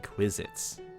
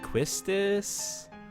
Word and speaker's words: Quistis: You're saying Quizits.